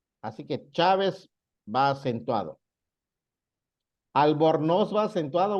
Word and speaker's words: Chávez: Por ejemplo, una palabra grave, mi apellido Chávez, debe llevar acento en la A porque tiene su sílaba tónica en la penúltima y termina con Z. Así que Chávez va acentuado.